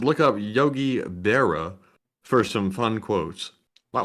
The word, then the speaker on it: Berra: yeah Yogi and then the second part is spelled like a bear with an a at the end of it and that was b-e-r-r-a let's see um let's